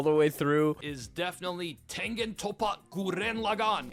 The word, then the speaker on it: Tengen Toppa Gurren Lagann: Is definitely Tengen Toppa Gurren Lagann. And yes, that is the only acceptable way of pronouncing it.